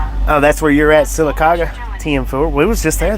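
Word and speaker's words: Sylacauga: At Redneck Crow 8,465 said that town that you was trying to pronounce the other day in Talladega County is Silicaga.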